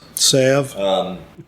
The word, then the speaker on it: salve: The L is silent.